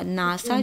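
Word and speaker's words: NASA: तो WHO abbreviation हुआ और एड्स एक्रोनिम हुआ, नासा जो हुआ वो एक्रोनिम हुआ, है ना, क्योंकि नासा अपने हर अल्फ़ाबेट को एक साथ लिया आपने, बट एक अलग साउंड भी तो बन गई, राइट।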